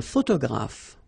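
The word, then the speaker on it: photographe: okay a all right a photograph so here p and here pronounce it like f f f f photograph okay same thing here this uh you don't insist on it you only pronounce this F at the end photograph okay a journalist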